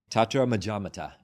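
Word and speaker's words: tatramajjhattatā: Tatra Majamata. So there's three parts to that. Tatra, which means there, or all these things. Maja, which means in the middle.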